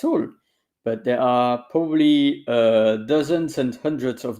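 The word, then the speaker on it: harpe: harp which is AR we don't pronounce the h by the way so at any point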